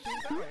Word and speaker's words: Sing Tao: It's Sing Tao, yeah.